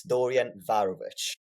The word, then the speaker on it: Dorian Varović: I'm going to try it and you tell me if I did it wrong. It's Dorian Varovich. Pretty good, man.